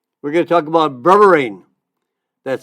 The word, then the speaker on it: berberine: great topics again we're going to talk about burine that's spelled be like in boy e r be like boy e r i n e berberine it's an herb well I shouldn't say it's